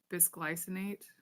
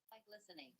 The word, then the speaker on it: bisglycinate: Uh by uh bys- bisglycinate, I think is how it's pronounced. Bisglycinate. How do you pronounce this? Bisglycinate? Byglycinate.